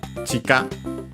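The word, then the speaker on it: 地下: But yeah, chika, accented on the first syllable, means underground, below the ground.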